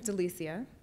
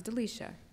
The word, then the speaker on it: Delicia: so my name is Delicia it's often mispronounced as delecia which makes sense because it spelled that way I will always correct